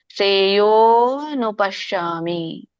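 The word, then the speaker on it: ಶ್ರೇಯೋಽನುಪಶ್ಯಾಮಿ: ನಚ ಶ್ರೇಯೋ ಯೋನುಪಶಾಮಿಯೋ ಅದು ಅವಗ್ರಹ ಎರಡಿದೆ ಅದರ ಅರ್ಥ ಅ ಲೋಪ ಆಗಿದೆ ಅಂತ ಅರ್ಥ ಅ ಯಾವಾಗ ಲೋಪ ಆಗಿರುತ್ತೆ ಅವಾಗ ದೀರ್ಘವಾಗಿ ಎಳಿಬೇಕು ಅಂತ ಅರ್ಥ ಸೋ ಹಾಗೆ ಅಲ್ಲಿ ಅನು ಅಂತ ಬಂದುಬಿಡುತ್ತೆ ಅಂತ ಬಂದುಬಿಡುತ್ತೆ ಶ್ರೇಯೋನುಪಶ್ಯಾಮಿ ನಚಶ್ರೇಯೋನುಪಶ್ಯಾಮಿ ಸರಿಬಿ ಸರಿ ಇದೆ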